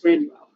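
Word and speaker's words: Gráinne Mhaol: grace o'malley because that's the uh gaelic pronunciation of grace o'malley is granual oh you taste grace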